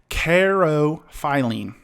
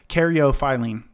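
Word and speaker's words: caryophyllene: have beta uh man i had this karo phylene okay karyophylene sorry i butchered that alpha pinene linole and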